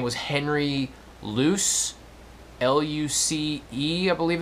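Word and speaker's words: Luce: time was I believe his name was Henry loose l-u-c-e I believe it's spelled he was a skull and bone Society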